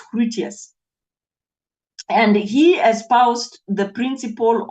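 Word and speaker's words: Grotius: people pronounce him as gr grous but actually the G in Dutch becomes a h so it's crous and he espoused the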